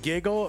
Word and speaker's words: GGL: Gaming. Giggle. Pronounced Giggle.